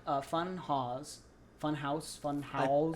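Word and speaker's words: Funhaus: fun Haw fun house fun house I think it's house it's supposed to just be pronounced house I think um what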